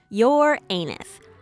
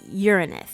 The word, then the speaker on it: Uranus: last one number three your anus whoops sorry I think I'm pronouncing that wrong its Uranus yes Uranus you know the